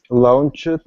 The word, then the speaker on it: launched: Okay, we would, for this one with the CH in front of an ED, it's launched. Launched. So this sound is more like a T.